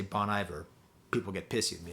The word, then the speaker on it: Bon Iver: Professor I know that his name should be pronounced boniveo I am well aware the problem is I don't think he calls himself that I think he calls himself Bon Iver so I don't know